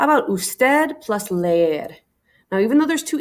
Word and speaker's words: lee: right here lei okay lay it's not lee not one syllable it's two syllables lei all right last one